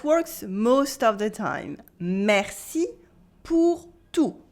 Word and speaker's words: merci pour tout: Merci pour tout with a silent T. Merci pour tout.